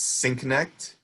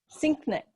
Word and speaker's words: Sienknecht: your last name please it's synect synect yeah um one of my patients told me uh it's I never made this connection before but sync like syncing two devices uhuh and then